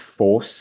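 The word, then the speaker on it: Forss: But Marcus Force, I think I'm pronouncing that right, Yes.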